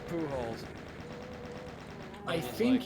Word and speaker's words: Pujols: yeah, I was like, yeah, because I was thinking to myself, isn't the accent on the later syllable if you pronounce it in Spanish? It's like, nah, it's Pujols.